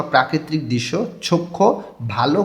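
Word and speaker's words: 좋고: খ্যংছেগা দৃশ্য বা প্রাকৃতিক দৃশ্য, চক্ষু ভালো, গো দিয়ে এবং বোঝাইতেছে, ভালো এবং, এখানে হিউতের পরে গিয়ক আছে, এই জন্য এই গটা খ উচ্চারণ করতে হবে।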